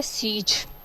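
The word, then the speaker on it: siege: एस ई आई जी ई इसको पढ़ना है सीज ठीक है इसको पढ़ना सीज है लेकिन आई इसमें साइलेंट आप इसको रखेंगे ठीक है इसकी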